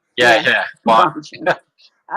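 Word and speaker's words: Bongino: I'll Bonino like Bon Bon. Yeah. Yeah. Bonino.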